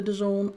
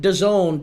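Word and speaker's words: DAZN: Get the the Done app.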